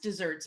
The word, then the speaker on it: deserts: it's deserts just dessert it's pronounced desserts but it's for just deserts and there's one s